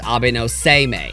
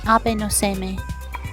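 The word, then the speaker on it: Abe no Seimei: Also, yes, I'm now aware that it's pronounced Abeno Saime. Abeno Saime.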